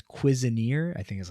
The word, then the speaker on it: Cuisineer: saw a game called Cuisineer. I think is how you say it. I don't know. Nobody. It's like Okay. cuisine and then an extra er.